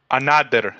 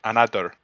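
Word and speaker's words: Anadyr: Anader is how you say it. Anader.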